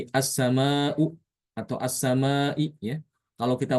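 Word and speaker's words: السماء: Jadi dibaca ee assama menghilangkan hamzah ya. Jadi hamzahnya dibaca dihilangkan.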